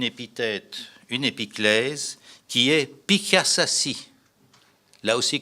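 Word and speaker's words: Piḫaššašši: une épiclèse, qui est Pikasasi. Là aussi, comme ça se prononce, P-I, Chet, qui, si vous voulez, A, 2-S, A, 2-S-I.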